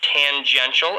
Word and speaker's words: tangential: that the tangential velocity tangential is a nice word fun pronunciation tan junction oh look i see